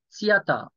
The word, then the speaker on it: theater: There is a theater. Theater. Bu şu T'den sonraki H var ya onu böyle telaffuz etmemize gerek yok. Aslında böyle T-H falan dememize gerek yok. Sadece tiyata.